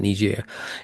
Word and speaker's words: Niger: United States had the biggest drone base in Niger. Some people pronounce it Niger.